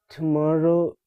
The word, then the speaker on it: tomorrow: Tomorrow is similarly like borrow, not borrow, borrow or sorrow. Tomorrow, borrow, sorrow. These three words sound similar.